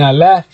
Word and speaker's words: Aleph: And Aleph, which would be Ah, you know, that's how you pronounce that, but it's you say the actual letter Aleph.